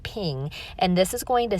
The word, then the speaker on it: PNG: You say that as a ping, you pronounce that ping, and this is going to save it with the transparent background.